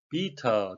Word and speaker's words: beta: Beta 또는 beta 하게 되는데요. Beta 하게 되면 영국식 발음이 되고요. 미국식은 beta가 되겠습니다.